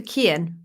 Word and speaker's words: Kian: I would go for Kian personally. It's Kian, right? Yeah.